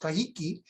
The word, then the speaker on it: Kahiki: But they had there's a word in a Polynesian, which means, in Hawaiian it's pronounced kahiki, but it's the same as the word Tahiti.